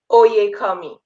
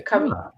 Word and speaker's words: Oyekanmi: Oyekanmi. Oyekanmi. Oyekanmi. Okay. You got it. Got it. The N is silent then? Is Oyekanmi? No kanmi, but kami. Yes. Right? Oh, okay. Yeah, kami.